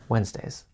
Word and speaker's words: Wednesday: I sleep longer Wednesdays. You probably noticed that we don't pronounce Wednesday how it's spelled.